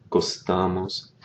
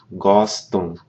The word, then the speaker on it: gostam: Those verb forms that end in M, like we have here, gostam. You don't pronounce the M. What that does is it nasalizes the preceding vowel.